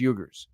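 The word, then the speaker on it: Uyghur: on Muslim uh uh I don't even pronounce how to know how to pronounce it the yugar the u y g hu RS I think it's yuger they stir no similar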